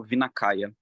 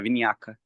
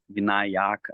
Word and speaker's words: Vinayaka: Não sei se vocês já ouviram o termo Vinakaya. Vinakaya é possível, é Vinayaka, eu acho que é assim que pronuncia, Vinayaka, alguma coisa assim.